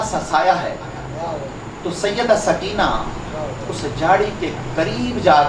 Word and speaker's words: سکینہ: ننھی شہزادی سیدہ سکینہ، عربی وزن میں یہ نام سکینہ ہے، لیکن عرف عام میں سکینہ بولا جاتا ہے، لہذا میں عرف عام والا نام استعمال کروں گا سکینہ، لیکن تلفظ بتا دیا ہے کہ سکینہ ہے۔ حضرت امام علی مقام